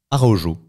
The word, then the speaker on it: Araújo: c'est un certain Thomas arojo voilà on va dire c'est ça pour la prononciation en portugais c'est plutôt euh oui c'est vrai c'est plutôt le J ou j'ai envie d'être